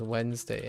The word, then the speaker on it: Wednesday: h no no no how many syllables does Wednesday have Wednesday has two syllables that's what it says and guess what one of the most one of the common questions is does Wednesday have two or three syllables uh yes yeah all